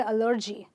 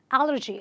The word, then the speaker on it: allergy: A lot of people say allergy, allergy. They stress on the second syllable, but you're supposed to stress on this one and say allergy.